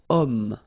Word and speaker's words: homme: Third possibility here, we've got homme, man, okay, but then o is here, we've got this h letter, remember h is not pronounced, okay, so you've got